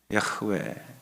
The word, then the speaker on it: 야흐웨: 우리말로 저는 이제 야훼 하나님 이렇게 하죠. 종종 우리 야훼 하나님이 야훼 하나님, 야훼 하나님 이렇게 했는데 야훼 하나님 그러면 입 모양 움직이죠. 혀도 움직여야 됩니다. 근데 히브리어 발음을 하면 야흐웨입니다.